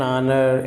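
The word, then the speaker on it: honour: सो एन ऑनर, एन आर, an honest person, यहाँ पे H silent है इसलिए यहाँ पे जबकि अ होटल, अ हिस्ट्री बुक, ये कॉन्सोनेंट साउंड है यहाँ पे।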